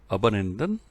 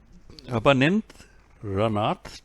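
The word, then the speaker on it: Abanindranath: And students, answer for this is Abhinandranath Tagore. मेरे को pronounce करने में दिक्कत हो रही है। ये है अबनिंद्रनाथ टैगोर।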